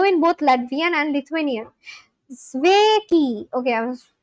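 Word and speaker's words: Sveiki: Zveki pronunciation. Oh, it's hello in both Latvian and Lithuanian. Sveki.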